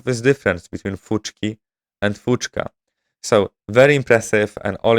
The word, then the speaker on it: fuchka: And what I found very impressive is that I mispronounced the food, the Bangladeshi food, which is called fuchka, but I pronounced it as fuchki, and this is how it wrote it down.